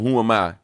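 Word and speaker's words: HUMI: six on the album, it's called Who Am I? All right. All right. And uh but it's not spelled like Who am I? It's spelled um H U M I. All right. Um as one word, but here it is.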